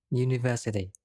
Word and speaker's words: university: look at another example University this word starts with the letter U but is pronounced with Y at the beginning and it is a